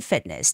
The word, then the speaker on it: fitness: The T doesn't have to be a hard T. It's just fitness. Fitness just a stopping sound.